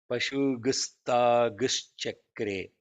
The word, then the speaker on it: पशुगुस्तागुश्चक्रे: It is Pashugum, not Pashugum. Pashu. There is no M because there is a Sa there, no? So the Pashu. rule of this is that when there is a Sha and a Sa, it comes as G.